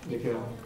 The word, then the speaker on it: Nikhil: First, I want to say Nikhil, or Nick Hill. How do you say it? Nikhil.